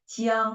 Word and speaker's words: 江: The final is yang. Jiang, my name is Jiang.